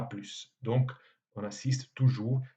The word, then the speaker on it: plus: Même chose pour plus qui, dans les phrases normales, se prononce sans le S, mais quand on veut abréger l'expression, par exemple, à plus tard, on prononce le S final, à plus.